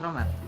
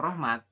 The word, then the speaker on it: Rohmat: Ya kan, berarti kalau misalnya Rohmat ya, real dulu nih. Ya. Berarti tinggal ditambahin real. Cuman H-nya itu tidak dibaca nanti ya, Mas Rohmat.